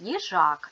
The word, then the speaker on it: їжак: на склади ї Жак ставимо наголос єжак наголос падає на другий склад ми знаємо що в